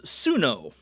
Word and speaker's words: Suno: Her name is Suno, and I believe it is just a Japanese pronunciation of snow.